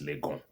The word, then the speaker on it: Legon: It's Legon. Gon. It's a hill in Ghana language.